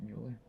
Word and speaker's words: Mueller: or Mueller isn't it Mueller Mill it's spelled Mueller but she says it's Miller that's how you say that's not how you pronounce your name Dr Miller that's how she pronounces it um that one